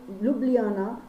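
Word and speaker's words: Ljubljana: तो स्लोवेनिया की कैपिटल है लुब्लियाना। क्या? लुब्लियाना, लुब्लियाना। यहाँ पर स्पेलिंग, यहाँ पे जे जो है वो साइलेंट है इसलिए इसका नाम है लुब्लियाना।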